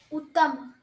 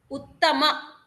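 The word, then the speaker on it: उत्तम: Uttam. Uttama. You have to pronounce it completely.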